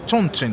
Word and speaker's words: 重慶: 重継ちょんちんと読みますね。